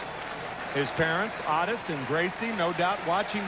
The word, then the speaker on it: Otis: balls and two strikes Otis Nixon is known as Otis Nixon in his hometown of evergreen North Carolina that is the way his father's name is pronounced his parents oddest and Gracie no doubt